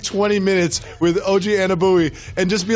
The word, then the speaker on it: Anunoby: Almost as terrifying as how you pronounce his name. It's Anunoby.